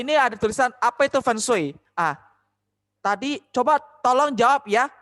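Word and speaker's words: 风水: Feng Shui diambil dari kata dalam bahasa Mandarin. Ini namanya Feng. Feng. Feng. Feng itu artinya angin. Kalau ini namanya Shui. Shui. Shui. Shui ya. Yang artinya air. Jadi dibaca Feng Shui.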